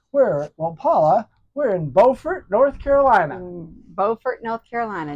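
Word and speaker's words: Beaufort: Carolina bfort North Carolina not to be confused with bufort South Carolina right right spelled the same different locations totally different when you're in North Carolina you need to say bordt BT bordt North Carolina look at the beautiful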